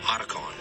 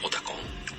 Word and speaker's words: Otacon: Others like Otacon. Right. So the team members always says Otacon. But American people say Otacon.